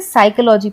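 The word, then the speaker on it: psychology: नहीं पढ़ेंगे हम इसे साइकोलॉजी पढ़ने हैं पी बिल्कुल अलग हो जाता है क्योंकि पी का इसमें कोई कम ही नहीं है उच्चारण में लेकिन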